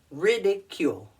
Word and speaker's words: ridicule: c u l e ridicule four vowels I know that's a lot right ridicule emphasis on the first word ridicule what does ridicule mean